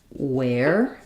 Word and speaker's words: where: So here we have the same e r e spelling in the word where it's the air diphthong and in the word were it's just a plain er sound. So thinking about this one as were or it's the same as this word were like the rotors were whirring. And this one as I would think about it like where think about that air diphthong.